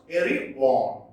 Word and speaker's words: Erewhon: It is pronounced Erewhon. Erewhon.